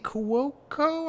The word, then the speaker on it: Cuoco: got wayne knight as the penguin um kaylee cuoco i think that's how you pronounce her name is um uh voices harley